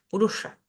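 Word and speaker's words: puruṣa: la palabra purusha purusha esta s con un puntito debajo me indica que es un sonido cerebral y que tengo que llevar la lengua hacia arriba para poder pronunciarla no digo purusha digo purusha purusa Y si vamos al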